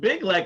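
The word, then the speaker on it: BYGGLEK: When I saw the commercial and the kid at the beginning, he's like, says, "You can do this with Big Lek." I was like, "Oh, that's how you say it.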